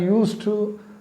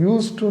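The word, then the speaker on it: used to: யூஸ் டு, ஒரு important காரியம், யூஸ் டு நீங்கள் ப்ரொனவுன்ஸ் பண்ணும்போது யூஎஸ்இடியாக இருந்தாலும் அதை யூஸ் டு அப்படி தான் ப்ரொனவுன்ஸ் பண்ணணும். யூஸ்டு டு இல்லை, யூஸ் டு.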